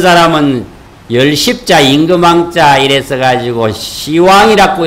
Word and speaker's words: 시왕: 고 해가지고 선 책이 있는데 그 책의 명칭이 예수, 시왕, 어떤 사람은 열십자, 임금왕자 이래서 가지고 시왕이라고 읽어야 되는데 글자대로 읽는다고 십왕이라고 읽어.